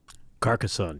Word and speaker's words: Carcassonne: a shot and see if I can actually pronounce this correctly Carcassonne is that right Carcassonne yeah yep it is the the first of